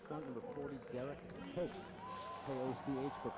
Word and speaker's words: Koch: K-O-C-H, but pronounced Koch.